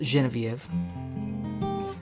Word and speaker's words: Genevieve: It's actually properly pronounced Genevieve, but the only thing Genevieve rhymes with is chicken Kiev.